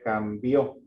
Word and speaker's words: cambió: Que ya enviara el dinero porque si ponemos una tilde sería cambió.